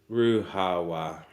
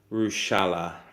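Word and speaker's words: Ruchała: The Polish pronunciation, Ruhawa. Oh, really? Okay. Mhm. Yeah, you see, that would be, you wouldn't know that. Well, I mean, in Czech it would be because the ch is like h, so it'd be Ruchala, Ruchala, if it was in Czech. But James's family pronounce it as Rushala, Rushala.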